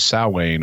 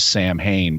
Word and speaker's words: Samhain: and so they were mispronouncing it as Sam Hayne based on the way it's spelled ah like me uh